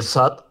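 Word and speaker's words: صاد: Telaffuzum %100 doğru olmayabilir o ayrı mesele ama kalın bir harftir sad. Sa diye böyle dil dişlere doğru yayılarak çıkartılır. Sa, sa diye asla peltek değildir.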